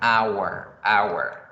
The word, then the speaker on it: our: Our. Good. Our. Suena igualito y se pronuncia igualito que la hora. Our.